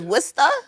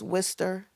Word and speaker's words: Worcester: Without the the Massachusetts accent, it would be like it's Worister. You know what I mean? W R C S E R. But everybody in Worester says Worester or back, you know,